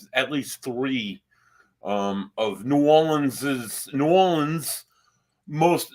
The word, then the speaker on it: New Orleans: as we travel to the historically and cultural culturally Rich City of New Orleans Louisiana um not New Orleans like some people mispronounce the word but it's New Orleans we're going to go to New Orleans it